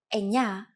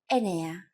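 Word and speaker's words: εννιά: Sometimes, though, especially in casual conversation, Greeks also use efta instead of epta, ochto instead of okto, and ennia instead of enea.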